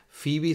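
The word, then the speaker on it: Phoebe: Fibi se escribe de esta forma que se pronuncia FIBI, pero se escribe así como en la serie de de Friend esa creo que había una FIBI.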